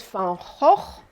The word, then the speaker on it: van Gogh: the wonderful artist Vincent Fajo and that's how you say his name properly in Dutch Vincent from oh okay you'll never get this wrong again so Vincent van Gogh was a painter who